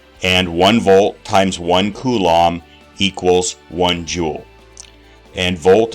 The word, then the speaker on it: coulomb: measure called a coulomb it's pronounced coulomb the abbreviation for a